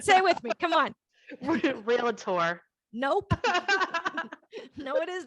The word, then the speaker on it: Realtor: this is true you just can't call yourself real tour we don't pronounce it right anyway say it with me no you don't pronounce it right stay with me come on realtor nope no it is not real hey for